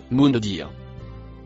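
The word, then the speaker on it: منذر: Le deuxième mot violet se prononce mundir.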